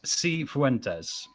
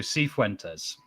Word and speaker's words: Cifuentes: a YouTube video, is Cifuentes. So Cifuentes. So it's kind of like, the problem is, of course, when you've got a Spanish accent, of course, it sounds a little bit different.